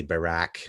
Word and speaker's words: Barak: Ehud Barak was also, I know I pronounced that with a T, but their T and K is kind of similar, but we'd say Barak, I guess. Kind of like, it sounds like Barack, like Barack Obama, but Ehud Barak.